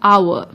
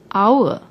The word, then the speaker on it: hour: we pronounce the word the H is silent we pronounce it as if it begins with the second letter the vowel o our so we use n